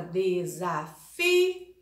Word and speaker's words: desafio: A palavra desafio, a sílaba mais forte, a tônica é fi.